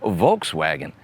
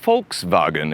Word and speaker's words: Volkswagen: I think I'm even technically mispronouncing Volkswagen because, as I understand it, it's supposed to be pronounced Volkswagen in German.